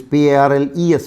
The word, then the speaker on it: parles: Though we say tu, it is PARLES for tu, but the pronunciation is the same, tu parles.